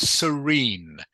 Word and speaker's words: serene: Serene. Serene. Serene. Serene. So the emphasis is on the last part of the word.